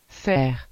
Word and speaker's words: faire: las letras A y se pronuncian como E. Por ejemplo, el verbo faire, que significa hacer.